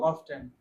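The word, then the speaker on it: often: इसको क्या प्रोनाउंस करेंगे ओ एफ टी ई एन को ऑफन ऑफेन नहीं करेंगे ऑफेन करेंगे टी साइलेंट होगा ना ऑफन पीपल ऑफेन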